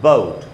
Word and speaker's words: boat: तो हम इसको ऐसे तो नहीं पढ़ते बोएट या बोआट या बोएट, ऐसे तो नहीं पढ़ते, इसलिए इसको हम पढ़ेंगे बोट।